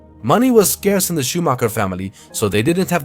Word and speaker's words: Schumacher: In this case, it's Michael Schumacher, although the correct pronunciation is Michael Schumacher, a pilot born in